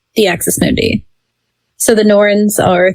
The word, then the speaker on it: Norns: So next we've got the Norns. Is that how you pronounce it?